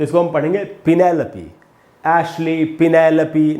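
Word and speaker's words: Ashley: दोस्तों आपको याद रखना, जब भी आपको LEY इस प्रकार से दिखाई पड़े तो 99% उसका उच्चारण ली होता है, ले नहीं। इसीलिए इस शब्द का सही उच्चारण है एशली। एशले एकदम ही गलत उच्चारण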